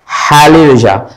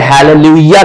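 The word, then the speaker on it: hallelujah: तरह से वर्ड है हैलेलुया तो ये हैलेलुया ठीक है हैलेलुया कहते हैं से लेलु ज नहीं कहते हैं हालेलुया राइट तो भले ही जे लिखा हुआ है पर पढ़ क्या जाता है य हालेलुया राइट ये है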